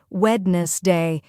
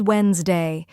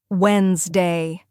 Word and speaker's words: Wednesday: Most learners pronounce it as wedness day, reading every letter. But the correct pronunciation is Wednesday. This is another example of English sound reduction.